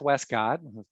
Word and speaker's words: Westcott: I'll be talking with Seth Westcott, rhymes with Prescott.